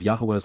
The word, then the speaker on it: Yahweh: he enjoys our company Yahweh Yahweh the proper pronunciation of the name of eloa God as directed in his Torah teaching regarding his high existence